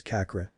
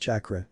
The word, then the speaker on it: chakra: What's kakra? Can you show me some of those weird things? Naruto looked at Pansy's hopeful face and groans silently in annoyance chakra. It's<unk>s pronounced chakra and let's just say it's another type of magic.